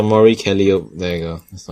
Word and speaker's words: Mori Calliope: The E is silent, so Mori Calliope.